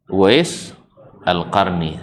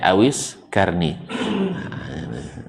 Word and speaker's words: Uwais al-Qarni: Uwais al-Qarni. Sampai di Indonesia bacanya Awis Karni.